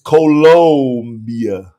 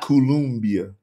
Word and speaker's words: Colombia: don't spell it right see you spelling it like Columbia South Carolina it's colia not columia you know I used